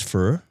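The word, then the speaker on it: phở: for lunch fur ph I pronounce it fur for uh yeah no it's I believe it's fur.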